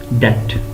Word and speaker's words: debt: was impairment of a debt it is pronounced as that okb should be kept silent that this was in